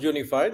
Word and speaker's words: UNIFYD: isn't it that's right it's pronounced unified even though the spelling is whatever it is okay we pronounce it's unified so the primary reason